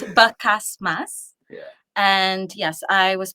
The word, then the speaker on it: Bacasmas: trouble throughout my childhood adult life people just mispronouncing I've heard it all basm basas Mama it's everything it's basas yeah and yes I was born in SIU